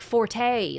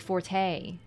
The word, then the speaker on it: forte: so to speak right when the word for is used in English it's the French version meaning strength not the Italian version meaning loud which is two syllables Comm mistake English language